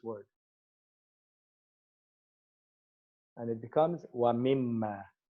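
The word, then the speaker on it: مما: And then the noon is actually not pronounced. So it's also eliminated in the writing just for this word. And it becomes wa mimma.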